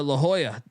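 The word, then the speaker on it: La Jolla: Titan tritons Triton keyboard um how do you pronounce that City la lala no La Hoya La Hoya man and and La Hoya uh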